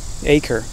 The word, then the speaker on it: Eaker: your last name acre acre like land yeah it's spelled e